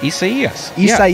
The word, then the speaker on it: Isaias: Yeah, there was a whole article on CNN about the pronunciation of Isaias. Isaias. I thought it was Isaiah.